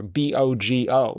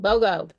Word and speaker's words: BOGO: I thought I have never heard that word pronounced before. B O G O BOGO.